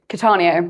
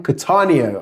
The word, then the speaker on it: Cattaneo: How How do I pronounce your surname? Katanio. Katanio.